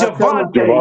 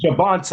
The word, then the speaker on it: Javonte: him, and I'm like, it's Javonte. He calls him Javonta.